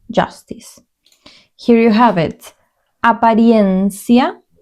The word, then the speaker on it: apariencia: Apariencia. This is slightly different. Apariencia. This part, try to pronounce it because it might be a little bit different. Apariencia. I-E. Apariencia.